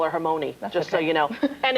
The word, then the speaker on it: Hermione: How do you say her name? Hermione. Good. My favorite pronunciation, though, is Hermy 1.